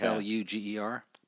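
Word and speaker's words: Pflueger: long as they actually l u g e r p p yeah with the silent P like fat you're fat yeah p-h-a-t that kind of so it's p-h-l-u Luger Luger I got it gotcha got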